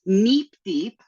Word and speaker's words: NEPDEP: say in this talk, but it's NEPDEP. It's supposed to sound like a robot because I think it's fun, and all my co-founders tell me that I'm saying it wrong, but when you invent the acronym, I think you get to decide how it's said.